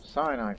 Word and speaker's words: Sinai: Well, Sinai first. And then the rest of you go that way. Really? Yeah, that's how you pronounce that place.